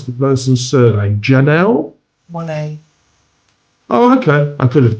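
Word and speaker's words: Monáe: Now, the song we're playing for you, I can't pronounce the person's surname. Janelle? Monet.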